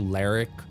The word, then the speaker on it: Ler'k: It would be something close to Ler'k. Like there'd be a little bit of an I sound in between the R and the K.